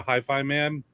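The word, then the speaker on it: HIFIMAN: It's Hi-Fi Man, not Hi-Fiman.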